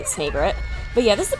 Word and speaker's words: Snagret: is a burrowing snagret snagret I think actually cuz it's meant to be a combination of a snake and an egret so I think the proper pronunciation would be snagret but yeah this is